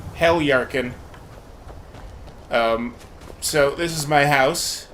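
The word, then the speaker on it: Heljarchen: I know that the J is pronounced like a Y, but I don't know if that would be like Heliarkin or if it'd just be a silent J there. I just call it Helyarkin.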